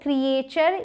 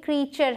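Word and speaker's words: creature: इसे बहुत सारे लोग क्रिएचर या क्रिएटर पढ़ते हैं, लेकिन ये क्रीचर है।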